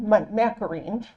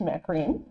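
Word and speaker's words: McCaughrean: It's by Geraldine Macarene. That's not what her name looks like, but I found out that's how it's pronounced, Macarene.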